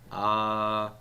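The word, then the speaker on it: אביך: Avicha. Accent on the bet.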